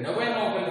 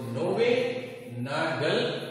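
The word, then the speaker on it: Knoevenagel: that is அது பேரு Newenagel reaction பேரு. K silent pronunciation. so Newenagel reaction அப்படினு பேரு.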